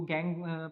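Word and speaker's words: gangue: इसको गैंग pronounce किया जाता है, मैट्रिक्स या फिर गैंग पाए जाते हैं।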